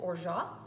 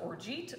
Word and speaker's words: orgeat: we have something called or shot or shot you may hear this mispronounces orgeat or something along those